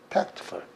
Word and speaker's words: tactful: C자가 오면은 그 다음에 T라는 자음이 왔으니까 이거는 크 발음돼야 되겠죠. EIY가 아니니까. EI가 아니면 무조건 크니까. 그래서 tact. 그 다음에 이렇게 되니 tact. 그 다음에 이렇게 끊으면은 이거는 강세가 없으니까 1번으로 약해집니다. full 그런 것이 아니고 tactful.